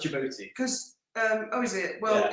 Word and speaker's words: Djibouti: Yeah, I know Djibouti It's actually pronounced Djibouti.